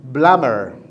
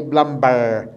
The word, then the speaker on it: plumber: silent we didn't say blumber no the b is silent number k we have